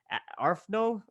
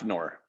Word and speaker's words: AFNOR: And that's, what you guys are doing basically by following the ARFNO. Is that how you say it? AFNOR. AFNOR, AFNOR.